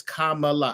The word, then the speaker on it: Kamala: how you say her name her name is Kamala I have to write that down because I'm